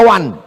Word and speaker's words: one: Tulisan nggak sesuai dengan bacaan. One dibaca wan.